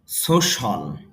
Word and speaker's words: social: ফর, যদিও এটাকে আমরা উচ্চারণ বলি সোশ্যাল, সোশ্যাল, আসলে সোশ্যাল হবে না, উচ্চারণটা হবে দেখেন সো, প্রথমে স্ট্রেস মার্ক আছে মানে ডাকা হবে সো, এরপরও স সাউন্ড, সোশ্যাল, তাহলে উচ্চারণটা হবে সোশ্যাল, সোশ্যাল মানে সামাজিক আর